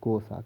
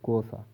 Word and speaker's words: Xhosa: Rolhelala, meaning troublemaker in Xhosa. Dear students, the correct pronunciation of this word is Xhosa. Ka sound is there, Xhosa.